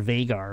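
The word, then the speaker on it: Veigar: That is Vigar. Or Vagar, or however you want to pronounce it. I call it Vigar. I call him Vigar.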